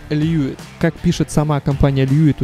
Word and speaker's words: Lewitt: компании илью и которая если читать по буквам будет звучать как левит но правильно оно произносится как льюис как пишет сама компания